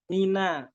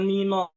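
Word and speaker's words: مِنَ: Mina, jangan mino, mina itu tebal, tapi harus dengan tersenyum.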